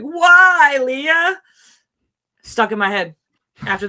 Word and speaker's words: Wailea: And he basically said Wailea the way he knows this is. He said, just think of Star Wars. You're like, Wailea?